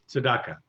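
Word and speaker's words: צדקה: Tzedakah, or Tzedakah, which is justice.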